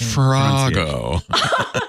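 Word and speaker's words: farrago: right right from R it's pronounced farago sorry I couldn't help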